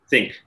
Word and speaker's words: THINQ: collective of people and spelled t h i and q but pronounced think not thank you all